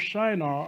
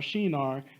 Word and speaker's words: Shinar: of babel was in the plane of shinar or shinar depending on how you want to uh pronounce that also located in iraq